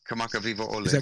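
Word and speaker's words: Kamakawiwoʻole: Kamaka Wiwole? Yeah, Kamaka Viva Ole.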